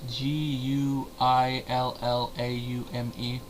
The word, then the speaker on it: Guillaume: Ernie Sabella, Rowan Atkinson, Robert Guillaume. It's Guillaume.